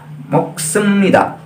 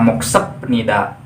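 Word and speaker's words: 먹습니다: Nah, mana pasti ada yang kaget, kenapa kok dibacanya moksemnida, tidak moksepnida, tidak masif nida.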